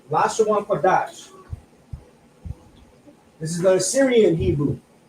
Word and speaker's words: Lashawan Qadash: This is a 2. That's a kwa, a da, and a sha. But we have a connector here that connects the da and the sha, which now is pronounced dash. So Lashawan Qadash.